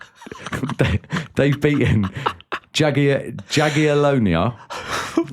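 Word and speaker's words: Jagiellonia: Uh they've beaten J they've beaten Jag Jagonia. Jagalonia which is why you laughing on pronunciation that is spot on.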